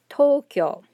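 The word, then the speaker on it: とうきょう: it so for example very common word tokyo notice this exhibits actually two of the topics we're talking about today where you have double o right romanizes oo but it's and notice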